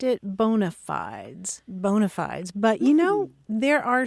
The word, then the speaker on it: bona fides: And in Latin, you pronounce it bona fides, and that literally means good faith.